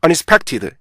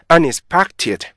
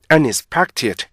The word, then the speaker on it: unexpected: 이러면 이상하죠 그죠 그래서 우리나라 사람들은요 unexpected 이렇게 읽잖아요 그죠 그게 아니고 unexpected unexpected 이렇게 읽어 주셔야 돼요 그래서 우리 기회는 잘